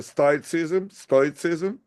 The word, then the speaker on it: Stoicism: pronounce in Russian it's Stoicism. In English it's Stoicism.